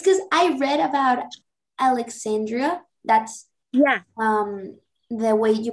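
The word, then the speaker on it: الإسكندرية: It's because I read about Alexandria, that's the way you pronounce it in English. I don't know if that pronunciation is right, but okay, it's in Arabic, it's Iskandria.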